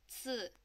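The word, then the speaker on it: 四: a downward tone and kind of make it more like an S, I know that's a lot to ask, but it sounds like zi, zi.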